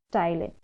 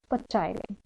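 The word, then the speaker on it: ptyalin: is also known as styline enzyme p t y l i n okay where p is silent so how you will pronounce it that is styling not pachyla okay so that salivary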